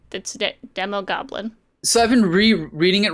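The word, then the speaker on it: Demogoblin: And I love the reveal of, like, it's a demo goblin, right? That's what they call it. Was it just Demon Goblin? Mm-hmm. Yeah. Oh, there's no N. It's Demo Goblin.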